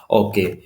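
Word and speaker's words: ho: ये जो ओ है ना, ठीक है, ये इसे एच जो होता है ये साइलेंट बोला जाता है, इसलिए ओ बोल रहे हैं, नहीं तो हो बनता है।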